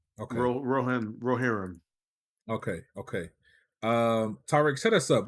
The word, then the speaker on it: Rohirrim: Lord of the Rings, War of how do you pronounce that? Rohirrim. Okay. Rohirrim.